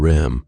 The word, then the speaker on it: REM: "ADM and REM, pronounced Adam and Rem.